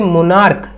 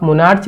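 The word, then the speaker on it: monarch: जैसे मोनार्क, इसको आप मोनार्च नहीं पढ़ेंगे, क्या पढ़ेंगे, मोनार्क।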